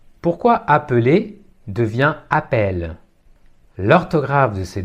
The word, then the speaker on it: appelle: la voyelle appel et le E final n'est pas prononcé appel appel même phénomène